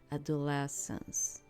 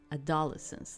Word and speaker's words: adolescence: way we say it it would be more like adolescence and not adolesence like like you put like an emphasis in one of the syllables in there that we do not put and that's that's